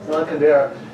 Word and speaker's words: Milan Kundera: Is it Milan Kundera or Milan Kundera? How do you say it, sir? Milan Kundera.